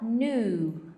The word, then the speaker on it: knew: Então a gente fala new. Gabi, esse K aqui, não pronuncia, ó. Isso aqui é no, isso aqui é new. No, new, percebe?